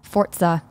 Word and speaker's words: Forza: I did not but did you know that I'm saying it in the correct Italian pronunciation Forza fortza for you you seriously don't hear a t though no yeah you do for I'm say I'm saying it's not a t in the word but you pronounce a little bit of a t sound that's the Italian not fortza not Forza